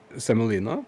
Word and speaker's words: semolina: I I never know how to pronounce it until someone actually says it and I'm like yes. Semolina.